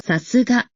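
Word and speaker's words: 流石: 流石在日语里读作さすが，所以这里的流石危机也能理解为别的意思。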